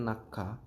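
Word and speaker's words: 낙하: Terus yang terakhir yang kelima nakha, bacanya nakha, tulisannya nakha.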